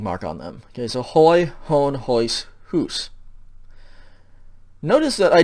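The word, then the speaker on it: ᾧ: the dative singular okay so it's pronounced ho it doesn't change the way that you pronounce it but it does have that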